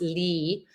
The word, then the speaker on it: lea: But then we started looking at the definition of Leah on the Oxford Dictionary, that actually it's pronounced Lee and means vast area of fertile and arable soil.